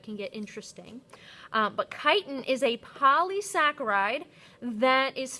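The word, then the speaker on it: chitin: major part of the plant cell wall and kiten careful pronouncing that I know it can get interesting um but kiten is a polysaccharide that is found in the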